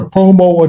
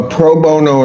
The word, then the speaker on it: pro bono: Uh, is it a such thing as a promo attorney? A what? Uh, I may not be pronouncing that correctly. A lot of extension work done. Proono. Proono attorney. Yes. A pro bono attorney.